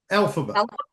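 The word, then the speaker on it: Elphaba: Alphaba.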